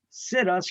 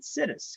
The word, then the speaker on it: situs: they said we're gonna sit us right here right so i don't pronounce it situs i pronounce it i pronounce it citis because once you find that